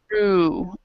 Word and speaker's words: through: Remember that GH is not always pronounced, right? So this is through, maybe through the internet.